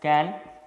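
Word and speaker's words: Cahn: CIP इज द 3 scientist known as कैन, double कैन इसका नाम है, H साइलेंट है।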